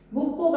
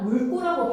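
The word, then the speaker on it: 묽고: 묵고가 아니라 물고라고 발음하셔야 돼요.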